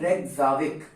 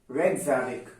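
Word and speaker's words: Reykjavík: इसकी राजधानी है रेकजाविक। क्या राजधानी है इसकी, रेकजाविक, रेकजाविक, ठीक है। रेकजाविक स्पेलिंग वगैरह देख लीजिएगा, कुछ गड़बड़ हो सकती है, लेकिन मैंने नाम बता दिया आप लोगों को।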